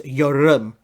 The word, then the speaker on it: Yeoreum: And a Korean friend told me it's Yeoreum. The R can be you know. It's pronounced an L, so it's Yeoreum, and it means, it's her stage name, I think.